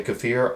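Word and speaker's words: kefir: Um same with kafir or keir, depending on how you want to pronounce it. I say keer, some people say kafir.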